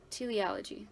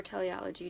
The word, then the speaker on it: teleology: learned this concept called te ology or teleology just depending on how you pronounce it teleology is like this